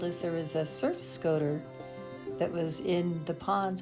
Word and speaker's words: scoter: There's an alpaca and a surf scoter right out beyond the alpaca. Neither one are supposed to be here. I believe the pronunciation should be Scoter, not Scotter.